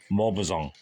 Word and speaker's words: Maupassant: I don't know how you say Malpazan. I'll say Malpazan. Guy Malpazan. Guy Malpazan. I'll just say Guy Malpazan. Don't know how you say his name. It's got to be Guy, right? Or is it Guy? Guy de Malpazan. Maupassant.